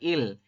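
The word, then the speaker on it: 이: Jadi ini dibacanya i, bukan du ya. Kalau yang du kan itu berarti bilangan asli Korea.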